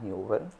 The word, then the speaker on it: Huber: encontrar así como Huber. Huber con h. Usted es como si usted va a escribir Uber, pero con hub que así mismo se pronuncia que es Uber.